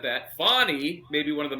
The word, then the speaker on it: Fani: trial is not about Fanny she's not on trial I mean fonnie I guess it is fonnie I don't want to mispronounce her name I think it began as Fanny now it's fonnie uh my mother's name